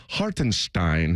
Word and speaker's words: Hartenstein: I like Isaiah Hartenstein is how you pronounce that. I was looking that at making sure I had that right during the break. He's German.